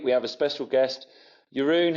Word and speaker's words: Jeroen: and this week we have a special guest Yun how are you I'm great man thanks for